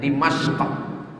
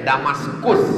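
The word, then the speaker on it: دمشق: Dal, mim, shin, qaf. Cara membacanya Dimashq. Orang barat susah menyebut Dimashq. Payah dia menyebut qaf itu karena banyak lemak babi di leher. Nanti bilangnya Dimashq. Jadi dikata dia Damaskus kata dia.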